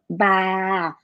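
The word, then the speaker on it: บ้า: But be careful, it's not popla, because if you use popla, there's a p sound. And that one is ba.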